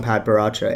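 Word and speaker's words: Padparadscha: Pad Paracha. I'm trying to convince someone that commented in this chat to make a video on Pad Paracha and hold up, Rue Teal. Yeah, that's right. I pronounced it right this time.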